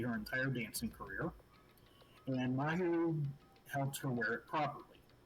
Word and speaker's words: Mahiru: Miharu? Yeah, her. Do you remember why they became fast friends? Actually, I think I got the name wrong as I said that. I'm pretty sure it's Mahiru, but they became fast